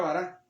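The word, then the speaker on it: בָּרָא: bará se llama así bueno no se llama así se pronuncia bará la palabra hebrea bará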